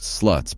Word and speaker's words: SLT: education course called the Sexual Literacy Tutorial SLT, pronounced sluts by the students.